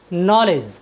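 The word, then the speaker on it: knowledge: ई डी जी ई नॉलेज नॉलेज means होता है ज्ञान साथियों यहां पर भी डी के बाद जी आया है इसलिए हमने डी का उच्चारण नहीं किया है चलते हैं अपनी नेक्स्ट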